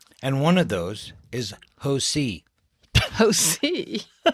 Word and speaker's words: Hosea: And one of those is Hosi. Hosi. It's spelled like a C, like Hose. Oo.